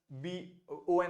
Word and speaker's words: bon: We say b o n आएगा तो ओ पढ़ लेंगे, लेकिन फिर हमको पता है कि हम गुड डे बोलते हैं bonjour, bon o n o होता है तो bonjour।